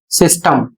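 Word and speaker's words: system: और इसे पढ़ा जाएगा सिस्टम। तो यहां पर छोटी इ का उच्चारण किया जा रहा है और इसका अर्थ होता है व्यवस्था।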